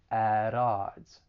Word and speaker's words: at odds: i am going to pronounce it as a flap t which is going to sound a little more like a soft d and then i'm going